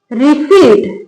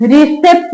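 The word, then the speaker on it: receipt: वो साइलेंट रहता है पी तो ये लिखा है रिसीट रिसेप्ट नहीं लिखा रिसीट नेक्स्ट है सी यू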